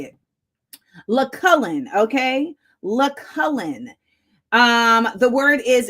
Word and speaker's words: Lucullan: Lucullen. Okay. The word is Lucullen. It's a specialty food. It means extremely luxurious. Lucullen. Lucullen. Lucullan.